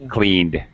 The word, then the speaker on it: cleaned: verb cleaned cleaned okay it's a d cleaned yeah all right worked